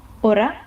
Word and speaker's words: hora: So the next one is an H in H in Spanish, and it is never pronounced. It does not have, you just ignore it. If you see it in the word, you ignore it. You don't pronounce it.